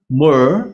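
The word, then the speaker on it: myrrh: sebelah kiri atas itu ada tulisan my R RH m y r RH Mer bacanya itu kristalnya seperti itu tetapi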